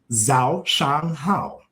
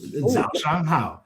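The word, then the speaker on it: 早上好: Zhao Shang Hao. Zhao Chang Hao. There you go. Zhao Shang Hao. Spell that for me so I can write it down.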